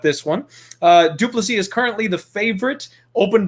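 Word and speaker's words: Du Plessis: giles taken on driscus duplici is actually the way that you pronounce that i know it looks like duplicitous and that's a much more fun way to say it i feel like but duplicity is the right way to go at this one uh duplicity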